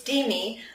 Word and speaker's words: Demi: boy beside me said, "It's Demi, like dreamy."